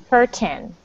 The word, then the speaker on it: curtain: Um the word curtain is similar to the word mountain. So think of the number 10. It's cur and then say the number 10. Curtin.